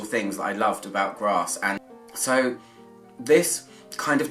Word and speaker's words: Grasse: It takes me to Grasse, and I can see why, because Hatchery looks a little bit like grass to me. So, or Grasse, if I'm going to say it properly.